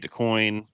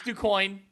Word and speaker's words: DuQuoin: They get DeQuoin, or DeQuinn. Again, I'm not good at pronunciations. It's DuQuoin. You got it. Nailed it.